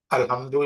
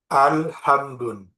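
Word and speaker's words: الحمد: Alhamdu ini termasuk kalimat isim karena ada alif lam di depannya. Maka kalau ada lafaz alif lamnya, maka ini kita enggak bisa membacanya alhamdun. Ini salah.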